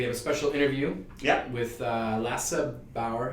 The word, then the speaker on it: Lasse Bauer: And we have a special interview with Lasse Bauer. I pronounced that right? Yeah, Lasse Bauer.